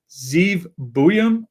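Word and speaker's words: Zeev Buium: Zeve Buham. Uh, found out how to pronounce that correctly.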